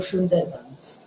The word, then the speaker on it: Sundarbans: Indubhushan Ghoshal, then the Zamindar, in other words, one of the so-called princes of Akhainagar Sundarbans, written Sundarbans, but pronounced Sundarban, joined the Indian Army